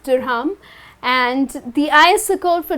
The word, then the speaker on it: dirham: In UAE, we use dirham. Okay that's how it's pronounced, dirham. The ISO code for dirham is AED.